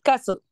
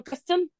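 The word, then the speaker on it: castle: تمام ححد كده برض الحرف التي حرف التي عموما في كل الانجلش انا لما باجي انطقه ما بقولش ايه ما بنطق التي ازاي ما بنطق التي التي ده لازم يكون سايلنت ولازم يكون يعني خفيف على قد ما اقدر قاللي كلمه كاسل انا نطقت التي لا ينفع اقول كاستل لا عمرك سمعت حد قال كسل لا تبقى غلط يبقى هي ايه كسل طيب ايه تاني مثلا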